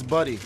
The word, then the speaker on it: Buddy: Do you understand me? I understand that. That's my whole thing. It's Buddy, okay? You are saying my name wrong.